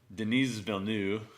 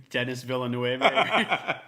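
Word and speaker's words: Denis Villeneuve: aspect of it and to be honest like Deniz bill knew I believe I don't notice a dude's name at least you tried what's your old pronunciation it's Dennis Villanueva yeah make it an evil dude you have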